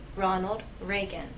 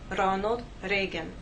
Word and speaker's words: Ronald Reagan: it will help us with pronunciation the correct pronunciation is President Ronald Reagan we have ours here and here if I